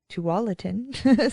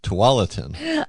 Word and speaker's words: Tualatin: can check out to Tualatin station Bar and Grill they have pulled pork and chicken wings so you got to have that AC I am saying it wrong it's toatin maybe it is it is